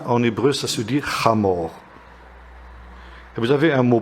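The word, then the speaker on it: חמור: Âne, en hébreu, ça se dit chamor.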